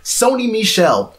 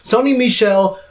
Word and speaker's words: Sony Michel: all this man right now right exactly now Sony Michel which is how you pronounce his name Sony Michel plate beside Nick Chubb and he's still shined